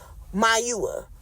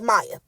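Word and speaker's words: Mayowa: In no way, shape, or form is that pronounced Maya. I said, that is Mayua.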